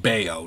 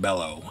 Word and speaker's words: Bello: up against Brian be I think it's pronounced beo not Bellow and Gavin cross will